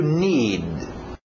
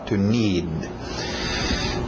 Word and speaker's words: need: To need. To need. Engole aquele D no final. To need.